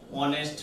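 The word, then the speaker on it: honest: এ হি is dash অনেস্ট ম্যান এইচ থাকা সত্ত্বেও এইচ এর মতো উচ্চারণ না হয়ে ভয়েলের মতো উচ্চারণ হয়েছে এই কারণে এখানে তোমার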